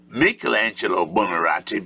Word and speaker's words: Michelangelo Buonarroti: We pronounce his name Michelangelo Buonarroti because we use the vowel system of the Europeans, but at age 25,